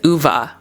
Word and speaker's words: Ove: First off, I learned that I'm saying his name wrong. It's UVA, a man called Uva.